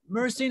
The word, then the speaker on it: myrcene: It's spelled M-Y-R-C-E-N-E.